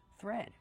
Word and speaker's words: thread: do we pronounce thread thread we have the th making the voiceless sound with air plus the r th th be careful not th but th thread plus the vowel e like red and bed thread this is a spool